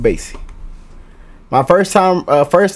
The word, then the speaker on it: Basie: count basin count basis did I say Bassey I think I said Buzzy but counting Basie hey I said it right Count Basie my first time uh